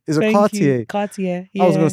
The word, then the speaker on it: Cartier: Cartier. Is it Cartier? Cartier. I was gonna say Cartier. Well, you can say it like that. That's how the Americans say it.